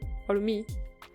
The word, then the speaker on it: hormé: Y luego tenemos algo que es hormé. Varía la pronunciación, ¿ok? Puede ser hormé con el acento o puede ser hormí, ya dependiendo pues sus preferencias, justificadas o injustificadas. Entonces tenemos, yo voy a pronunciar hormé, ¿ok?